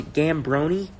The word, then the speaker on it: Giambrone: kind of a problem I pronounce a gamberoni but like just damn but there's an eye in there so should be like John brownie here's something but uh